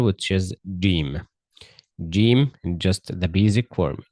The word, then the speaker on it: ج: So alim is pronounced by raising the middle the middle of the tongue to the roof of the mouth.